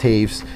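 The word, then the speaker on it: Toews: uh look look for those on YouTube Jonathan Taves spelled t o e WS pronounced differently but that's how it's pronounced Taves and Rick Nash uh hopefully you can spell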